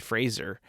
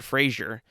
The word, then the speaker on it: Fraser: Apparently, we've been saying his name wrong for all this time, And I remember when Adam Sandler actually said Fraser and not Frasier.